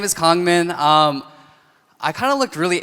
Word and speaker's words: Kangmin: In America, they're like, oh, Kangmin, like Carmen, or King Kong, like the gorilla.